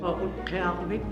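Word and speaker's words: Utqiaġvik: Although most locals here still refer to this town as Barrow, the indigenous name is actually pronounced Uttoqqortoormiit.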